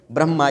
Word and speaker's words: ब्रह्मा: मैं पूरा है और इसका शब्द कैसे उच्चारण कैसे होना चाहिए ब्रह्मा कैसे होना चाहिए ब्रह्मा इसका उच्चारण होना चाहिए तो आशा करता हूं